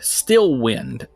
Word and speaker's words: Steelwind: And Arby, the one that you were holding, has the word Stillwind, STEELWIND, etched into the back of He it.